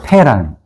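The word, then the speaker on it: פא: 그래서 말이기도 하나님은 또 말씀 이것을 상징하는 말이 패라는 단어예요.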